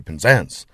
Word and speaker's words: Penzance: When you got that unstressed first syllable, it does, in the sounds of the older people, virtually disappear. So you'll hear Redruth, you'll hear Penzance. The first syllable is scarcely heard.